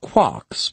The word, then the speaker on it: quark: master Mark the word Quark is supposed to be pronounced by quart but with a k at the end instead of a t it is used to